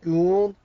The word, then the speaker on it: Gould: These additional observations come from the Stargate SG-1 has taught me to pronounce it as Goa'uld, well, it looks like it's actually saying Gould.